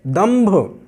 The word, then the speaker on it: दंभ: पवर्ग में आता है, तो भा जिस वर्ग में है उसके पंचम वर्ण की ही ध्वनि यहाँ पर निकलेगी, दंभ।